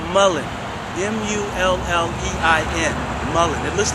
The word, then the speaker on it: mullein: There's something called mullein. M-U-L-L-E-I-N. Mullein. It looks like mullein, but most people pronounce it mullein.